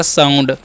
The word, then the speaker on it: sound: SOUND है तो यहाँ पर OU जितने भी होगा ना उसका उच्चारण आव करना है। एस का उच्चारण स, OU का आव तो हो गया साउ, और एन से अंसुआ, डी से रत हो गया साउंड।